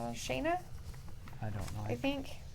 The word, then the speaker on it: Shanna: Oh, they said it right there. Did you see it? Shanna, yeah.